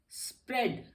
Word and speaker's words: spread: स्प्रेड, SPREAD, स्प्रेड, इसमें भी ए silent है, ए साइलेंट हो जाता है।